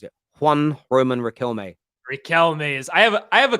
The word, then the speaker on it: Riquelme: Yeah, it is right as I pronounce it. Juan Roman Riquelme.